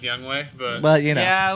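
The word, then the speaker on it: Younghoe: stud oh you took youngho it's actually pronounced young way but but you know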